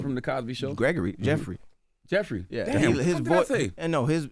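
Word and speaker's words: Geoffrey: The Cosby Show Gregory Jeffrey Jeffrey his and no his his name is spelled weird yeah spell with a GFF almost like giop and you don't want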